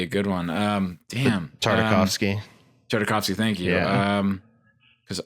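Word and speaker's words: Tartakovsky: going to do the noncanon Clone Wars by Dratowski or I'm mispronouncing his name just to mess with us like that like a big curveball. That's that would be a good one. Um, damn. Tardikovski.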